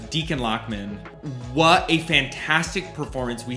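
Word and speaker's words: Dichen Lachman: And shout out to, I believe it's pronounced Deacon Lockman.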